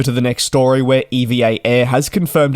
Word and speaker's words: EVA Air: However, the correct pronunciation is to actually say the letters EVA.